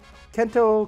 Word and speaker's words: Kento: till the Asian invasion kento kind of rhymes with bento a lot of things